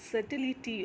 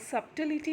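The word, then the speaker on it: subtlety: है वो साइलेंट है उसको सबटाइटलिटी नहीं बोल के सेटलिटी बोलिंग के सैटेलाइट ऑफ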